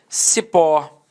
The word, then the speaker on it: cipó: Cipó. Repare que a sílaba tônica é a última e ela é terminada em O.